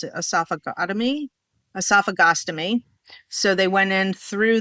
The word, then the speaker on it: esophagostomy: Then he was like, let's do, how do you pronounce it? Esophagostomy.